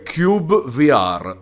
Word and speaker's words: cyubeVR: Questo è Cube VR, scritto CY. Ube. Però vi assicuro che si pronuncia Cube VR, anche perché c'è una voce nel menu principale che dice Welcome to Cube VR.